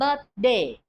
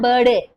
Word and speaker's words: birthday: it's a birthday in don't say birthday it is wrong please correct pronunciation is the sound must come birthday no birday birthday is wrong pronunciation she's turning she's already